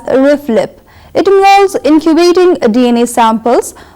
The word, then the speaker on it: RFLP: abbreviated as RF LP it's pronounced usually as riff lip it walls incubating DNA